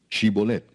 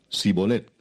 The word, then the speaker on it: Shibolet: Si él respondía no, entonces le decían, "Ahora pues di shibolet." Y él decía sibolet porque no podía pronunciarlo correctamente.